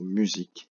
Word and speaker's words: musique: Puis le mot musique, M-U-S-I-Q-U-E. Le S étant entre deux voyelles, il se prononce Z.